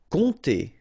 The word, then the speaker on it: compter: Compter. All right, so OM, really like a nasal here. On, and then this P is not pronounced.